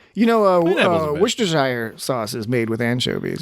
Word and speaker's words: Worcestershire: of people are like Worcestershire, but if you break it, Worcestershire. but if you parse it differently, it's Worcestershire sauce. Worcestershire sauce. Worcestershire. Worcestershire. Worcestershire. Shire is really pronounced sure.